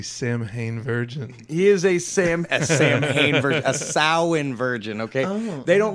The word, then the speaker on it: Samhain: I am a Samhain virgin he is a same sow in virgin okay they don't like it when you say Samhain it looks like Samhain it's spelled like Samhain